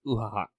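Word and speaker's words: Uathach: Her daughter is Uhahak. Uhahak? Yeah. Uhahak. It's like Skahak, but with an Ua in front of it.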